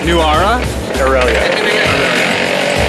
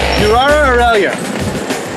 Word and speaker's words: Nuwara Eliya: And the place we're going to is pronounced properly. Nuwara? Nuwara? Nuwara Eliya. Nuwara Eliya.